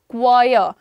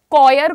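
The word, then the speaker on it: choir: Pronunciation क्या है? क्वायर। कॉयर, कॉयर करना बंद करो, इट इज क्वायर, क्वायर, क्वा क्वा, ओके।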